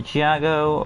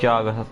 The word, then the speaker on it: Jago: So let's go to Jago, or Jago, again, however the name is pronounced. I'm going to pronounce it as Jago, that sounds more cooler.